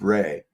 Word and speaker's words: Ra: Um the word ra is the name of the ancient god called rah pronounced ray.